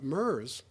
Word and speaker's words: Merz: And the Labor, the MERS, M-E-R-Z, MERS, I think it's pronounced MERS, once the Anglo-American, the